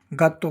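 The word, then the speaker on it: gatto: यदि जी के बाद कोई भी व्यंजन आए यानी जी के बाद में ए ओ यू इन तीनों में से कोई आ जाए या फिर कोई व्यंजन आ जाए तो जी का उच्चारण क्या होता है? ग होता है।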